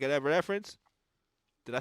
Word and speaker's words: Evanescence: like you saying you getting into, like an Evanescence. Did I say her name right? Evanescence. Yeah. Thank you. I've been saying that name wrong my whole life.